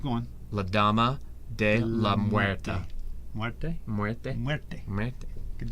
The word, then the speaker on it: Muerte: All right, now I want you to pronounce the next one. Lady Mechanica. Keep going. La Dama de la Muerte.